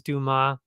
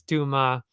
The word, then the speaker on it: Dumas: If you actually pronounce it French, which is, I'm assuming, how it's supposed to be pronounced, it's actually Cedric Dumas, not Cedric Dumas, as they keep saying.